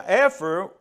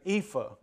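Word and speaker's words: ephah: tenth ephra and a efra uh one ten of an efra and I know I'm saying that wrong of fine flour an epha epha that's the way it's supposed to be pronounced she's been schooling me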